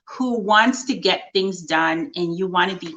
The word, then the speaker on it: Dunn: getting it done that's getting it done and done is spelled by my last name d-u-n-n um so i look